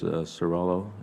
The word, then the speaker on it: Cirillo: Can you or Ms. Cirillo, is that the correct pronunciation? Yes, Senator.